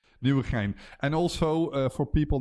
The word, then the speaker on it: Nieuwegein: Um Coast, I might have to get you to pronounce the name of the city where it is being hosted. Nieuwegein.